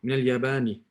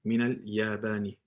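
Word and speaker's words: من الياباني: Min al-Yabani. That's how you say it. Min al-Yabani.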